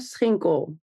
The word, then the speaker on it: Schinkel: So it's Schinkel.